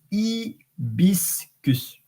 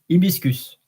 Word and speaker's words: hibiscus: h in Latin and in French you don't pronounce the h so it's ibiscus ibiscus and I wonder if